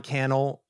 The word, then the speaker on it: Cannell: for coming on um Sean canel rhymes with YouTube channel uh wrote a book